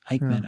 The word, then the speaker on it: Aickman: Robert Aickman? Aickman, okay.